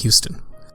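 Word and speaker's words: Huston: it and at Glenn Houston with two ends and it's spelled like hustin hu sto n but pronounced like Houston good job yeah you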